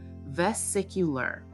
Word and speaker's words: vesicular: Pronunciation: vesicular.